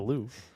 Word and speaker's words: Louvre: So I still know how to pronounce the Louvre.